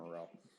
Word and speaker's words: Aurel: Aurel is, and that's the way I pronounce her name, Aurel.